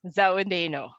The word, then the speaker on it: Dzawada'enuxw: Dzawada'enuxw. Dzawada'enuxw.